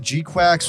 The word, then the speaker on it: G-Quuuuuux: next big update on G quacks which I'm going to be trying my hardest to call G quacks here because the title has basically been confirmed as you say it like quacks I'm going to maybe